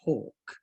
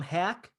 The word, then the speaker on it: Haack: It says pronounced Hawk. Yes, it is Matt pronounced Hawk, but I'm really proud of my tweet where I said that I'm gonna call him Hack until he earns Hawk, because Hawk nails punts